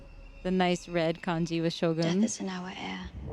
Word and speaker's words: Shōgun: the macron over Shogun they put the line over the O because it's a long elongated sound Shogun okay um macrons are